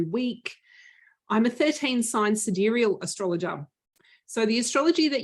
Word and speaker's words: sidereal: astrological planner yes you suderial sidereal enthusiasts i will say it correctly now sidereal i'll say it without the australian accent sidereal enthusiasts we get our own planner in 2023.